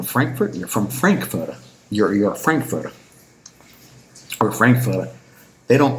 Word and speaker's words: Frankfurter: You're a Frankfurter or Frankfurter. They don't pronounce it ER. They don't pronounce They pronounce it A. So Frankfurter, Hamburger, Pauliner, Münchener.